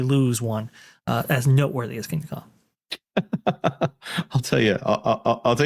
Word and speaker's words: Kingda Ka: Which, by the way, I think I've actually managed to pronounce Kingda Ka correctly, even though it looks like Dhaka.